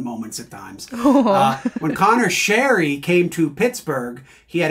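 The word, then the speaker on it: Sheary: the next year like by the way it's it's Sherry and we're like huh he's like yeah my name's Sherry and like we thought he was sort of ribbing us and then like turns out it actually is Connor Sherry but it never caught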